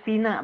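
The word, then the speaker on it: فناء: fana'i kulla bait fil fana, apa makna al-fana? Halaman Safa. Halaman saha. Oh saha, di saha. Kalau fina itu serambi, tapi fina bacanya bukan fana.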